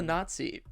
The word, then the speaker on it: Nazi: We hate I- Nazis. If you didn't figure that out already. Let me. Are you having let me trouble be the first to say pronouncing Nazi? It's not Z. Nazi. Nazi.